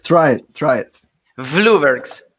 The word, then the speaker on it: Vloeberghs: a question for you how how should i pronounce your your last name i i tried to say blaubert but then i i used it late and